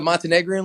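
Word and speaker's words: Montenegrin: n what the hell is that it's the montenegrian league damn thank you thank you thank you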